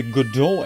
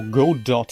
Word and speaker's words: Godot: to get started with the good door engine or go dot engine depending on how you want to pronounce it that is also an